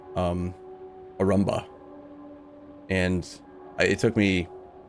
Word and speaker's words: Arumba: stuff to realize that my own internal head cannon for how to pronounce my own name is actually wrong and it probably should be pronounced Arumba, but I wrote it and spelled it the way that I did. And in my head, I thought it sound like a Roomba.